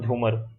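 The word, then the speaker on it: झुमुर: फिर आपका ओजपल्ली और झूमर। अब देखो इसको झूमूर है, यहाँ पे जो ये स्पेलिंग है वो ध्यान रखना।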